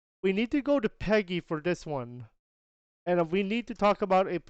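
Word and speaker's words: PEGI: go FIFA 23 is rated Peggy three that's how you say it and that is how you say it Peg E3 and uh and it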